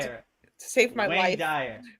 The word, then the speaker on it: Wayne Dyer: Wayne Dyer. Is it Wayne Dyer? Yeah, with a W. Wayne Dyer.